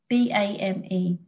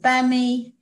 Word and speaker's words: BAME: at the moment is the acronym bain b-a-m-e some people pronounce it bammy bame some people don't really know how to pronounce it but anyway and i